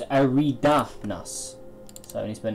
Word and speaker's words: Eridanus: Oh, so it's Eridanus.